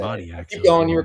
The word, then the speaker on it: Moniak: Moniac, dude. Say it. Mickey Moniac? Yeah. Mickey Say Moniac.